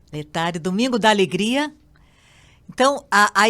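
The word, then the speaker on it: Laetare: Padre Antônio, mas ajuda a gente aqui, explica, aproveitando esse podcast, assim, esse domingo Letare, é assim que se pronuncia? Letare, Domingo da Alegria.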